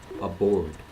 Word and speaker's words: aboard: the first preposition is aboard aboard so notice that even though it starts with an A the first syllable sounds like uh and the uh is deep down here right aboard aboard aboard is